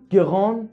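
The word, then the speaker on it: grand: مثلا نگاه کنید: ان گران لیور اون گراند تبل. تو مثال اول گفتم گران، گران نزل، تو مثال دوم گفتم گراند، گراند. اوی که اومد دی تلفظ شد.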